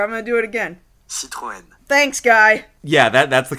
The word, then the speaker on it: Citroën: Okay, what does Wikipedia voice guy say the pronunciation of this car is? Citroën. Citroën. Sure, I'm gonna do it again. Citroën.